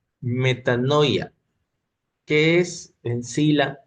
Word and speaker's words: metanoia: Vamos a ver el día de hoy lo que es el arrepentimiento en sí y de acuerdo al griego, la pronunciación significa metanoia.